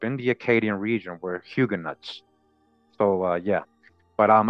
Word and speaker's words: Huguenots: big disclaimer now so in my old videos I used to say hug a nut all right so don't kill me okay I say it correctly now hugen nuts all right hugan nuts but at the time